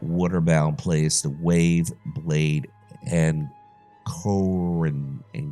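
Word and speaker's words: Ankoan: place, the wave, blade, and Cohen. That'd be the right way to say it, and Cohen.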